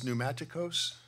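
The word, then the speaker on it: πνευματικός: there uh the Greek here for Spiritual is pneumaticos I'll spell it for you P NE m a t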